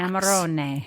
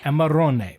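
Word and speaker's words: Amarone: Amaron. Amaron.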